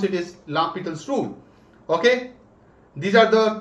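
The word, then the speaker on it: L'Hôpital: also apply la petel's rule it is not l hospital right la peter's rule but we write it as l hospitals but it's it's up to you guys if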